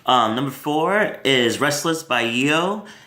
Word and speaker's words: Yeo: Number four is Restless by I.O.U, which is spelled Y-E-O.